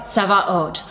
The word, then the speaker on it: tzava: I want to pronounce that word for you, tzava, because often when we see it spelled out, it looks like Sabaoth, like Lord of the Sabbath, but that's actually a different word, that's Shabbat.